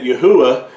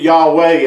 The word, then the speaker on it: Yahuah: pointing to the fact that Yahuah is not only our creator, but that's how his name should have been pronounced and is pronounced if you do it properly. There's no way to get Yahweh out of this because